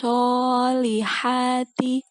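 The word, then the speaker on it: الصَّالِحَاتِ: Oke, di sini adalah shot bukan sin ya. Wa amilus solihati wa tawasaw.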